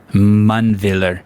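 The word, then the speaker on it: Mundwiler: willer one villain no manviller you you pronounce the w as a v yeah manville sam stewart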